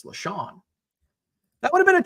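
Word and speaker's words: LeSean: It is LaShawn. Not spelled the same, but we would give LaShawn.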